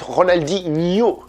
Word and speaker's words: Ronaldinho: comme ça en profite quand il ya nhl en portugais ça se prononce lui je dis ça par exemple par rapport aux joueurs de foot ronaldinho est nash au mieux je dis ça parce